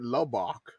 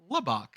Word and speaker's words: Lubbock: are you saying that lobach Lubbock Lubbock Louisville yeah it rhymes with ham hock yeah like Shiner Buck